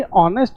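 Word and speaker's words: honest: Sir easy है तो सर ऑनेस्ट है ना इसमें एच साइलेंट है। फिर एच साइलेंट है। अबे एच साइलेंट है मत बोलो। बोलो ऑनेस्ट में ओ है और ओ जो साउंड होती है वो किसकी होती है?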